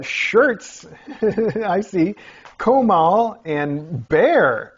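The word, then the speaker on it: Bexar: I see Comal and bear wow spelled b-e-x-a-r bear huh on page 16 there's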